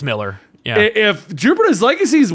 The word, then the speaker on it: Millar: When I read that they paid 8 figures for the whole Millerverse or Millarverse, however you want to pronounce it, I'm just like, it's Miller.